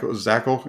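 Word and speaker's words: Zakelj: sending into into training camp yeah it's zach zachel you don't say that the j is silent uh in his name so uh i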